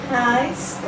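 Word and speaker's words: hijskraan: Reiskram. Não, não é raiz não. Je doet wel, jawel. Je hebt al geleerd. Je hebt net geleerd. Hoe heet deze? Hoe spreek je deze uit? Ei. Dus, hijs. Reiskram.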